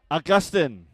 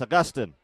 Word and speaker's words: Augustine: Augustine. I was trying to give it the Filipino pronunciation. Augustine. No, it's Augustine.